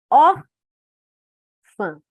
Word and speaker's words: órfã: órfã. A sílaba mais forte é essa.